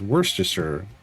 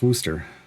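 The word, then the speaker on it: Worcestershire: grew up with that Valdemar Night Road being pronounced as worsture sauce. Worstisher. That is not. There are going to be people that swear that that's how you pronounce it. No. Yeah, it's worooster.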